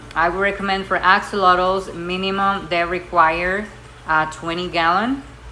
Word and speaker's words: axolotl: Actually, the correct way to pronounce it is axolotl because it comes from the Nahuatl, and basically axolotl means water monster.